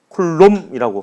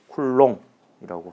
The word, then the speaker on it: 쿨롱: 쿨롬이라고 하기도 하고요. 쿨롱이라고 하기도 합니다. 주로 쿨롱이라고 많이 하더라고요. 그냥 발음의 차이예요.